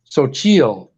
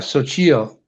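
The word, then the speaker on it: Xochitl: Her name is Sochil, but it's spelled with an X, XO something or other with a T. Right. So Sochil.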